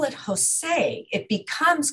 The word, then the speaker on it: Hosay: And it, so it's not J-O-S-E, the Spanish name, it's H-O-S-A-Y, which is the written pronunciation of Hossein.